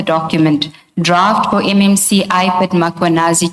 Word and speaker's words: Mkhwanazi: Do you see the title of the document draft for MMC iPad Makanazi just as you pronounce his name Makuanazi with the A.